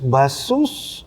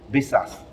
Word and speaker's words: Baseus: Yeah, you read here, pronunciation here is Basus. Yeah. But in Basus. China, we usually use Besas, Besas. based on users. Based on Besas, users.